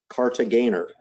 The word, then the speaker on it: Kartagener: So it's a classic Kartagener. How did I do on the pronunciation, Jeff?